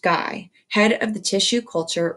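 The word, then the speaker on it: Gey: patients so he called george guy pronounced guy head of the tissue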